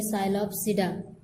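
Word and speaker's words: Psilopsida: इसम पहली है देखो पी साइलेंट रहेगा इसको पढ़ेंगे साइल सिडा साइल सिडा की एग्जांपल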